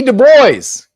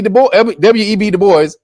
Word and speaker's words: Du Bois: Du Bois, or Dubois, really is how you say that name, is French.